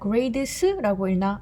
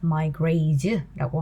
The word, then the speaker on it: grades: 그러면 grades라고 읽나? 아니죠. 드하고 스 소리가 붙으면 즈에 가까운 소리가 납니다. My grades라고 하고 당연히 복수라서 are bad 이렇게 쓸 수 있는 거예요.